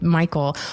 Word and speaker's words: Michiel: were just talking about that last night with Michael wait first how do you prefer people say your name Michael is fine are you sure yes um okay